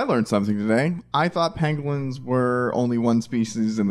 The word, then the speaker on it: pangolin: Pangolin. Okay, just making sure. Pangolin.